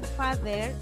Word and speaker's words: father: Pero aquí there, ese father, suena como si tuviera una D, ¿ya? Pero al momento de escribirlo en inglés, se escribe es la T y la H, la E y la R.